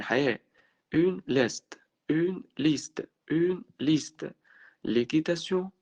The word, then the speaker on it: l'équitation: L'équitation اللي هو بعد الكيو ما بتتنطقش.